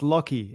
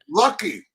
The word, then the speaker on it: Lachy: Lachy? Yeah, pretty close. So it's Lachy. It's Lachy. A weird Australian name. It's spelt strange. All right. Lucky.